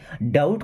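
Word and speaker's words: doubt: वहां एनी मीस कोई डाउट का मतलब सक यहां पे बी साइलेंट होता हैसे डट नहीं डाउट पढ़ते हैं इ देर एनी डाउट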